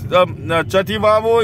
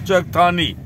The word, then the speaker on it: Chakthani: That is, Chativavo is a mispronunciation of Chakthani.